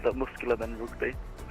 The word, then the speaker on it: Rugby: Yeah, like the sport. Rugby. Like the muscular men rugby.